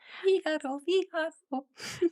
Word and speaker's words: Figueroa: Figaro. That's how I knew how to pronounce her name.